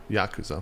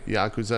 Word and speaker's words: Yakuza: I'm mostly joking, but the accent's on the first syllable. Well, mostly joking because I'm probably pronouncing it wrong anyways, but it's Yakoooooza. Yakoooooza.